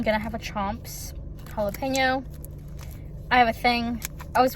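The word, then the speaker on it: jalapeño: to have a Chomps jalapeno I have a I was watching people talk about these my whole life I've said jalapeno because in Spanish it's jalapeno why do people I'm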